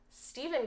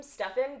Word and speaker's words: Stephen: is a Chainsaw by Stephen Graham Jones, which I realized that I kept calling him Stefan because I've been watching Vampire Diaries, and this is how Stefan is spelled in the show.